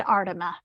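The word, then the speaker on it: Aardema: Tell me how to pronounce Fred's last name, Bronwyn. It's Fred Ardema.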